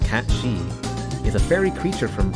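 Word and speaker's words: Cait Sith: to search that up kate siff it says here cat sif meaning fairy cat pronounced cat she is a fairy creature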